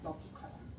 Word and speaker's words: 넓죽하다: 자, 합성어나 파생어에서는 비읍으로 발음합니다.